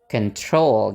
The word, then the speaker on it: control: pak yang awalnya Oke kita pakai pola nana nana control gitu ya bacanya control Oke sebelum kita tutup